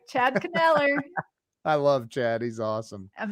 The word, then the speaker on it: Kneller: Chad Kneller is in the house. Chad! I love Chad. Chad like Knife. That's how you say his name. That's right. Chad Kneller.